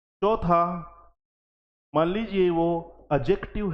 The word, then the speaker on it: adjective: बोलते हैं इसको साथियों कभी भी डी के साथ जब जे आता है तो यह डी साइलेंट हो जाता है जैसे आपने पढ़ा होगा